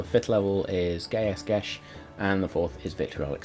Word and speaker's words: Geas: Geas. Geas. Gas. Apparently it's pronounced Gesh.